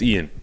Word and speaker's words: Iain: Is it pronounced Aian? It's Ian.